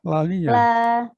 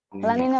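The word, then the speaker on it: La Niña: Kalau L tadi banyak sekali disebut laninya. Lanina Bapak. Lanina. Itu kalau yang benar bacanya itu dikasih Y. Laninya.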